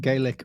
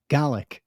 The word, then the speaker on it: Gaelic: supposed to pronounce it gaelic or garlic i'm always being told off by my scottish mum how do you pronounce it it you should pronounce it like the word garlic but without the r garlic garlic yeah that's